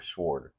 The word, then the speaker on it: sword: Do you give it a hard W or is it a soft W? Sword or sword? Maybe we'll learn something. Okay, so take off the W.